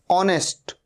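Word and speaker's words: honest: ऑनेस्ट, ओ से शुरू हो रहा है साउंड, एच का साउंड नहीं आ रहा है।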